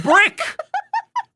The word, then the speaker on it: Brick: No, I'm Brick. It's Brick, You're brother. Brick. It's Brick. There's already one syllable there.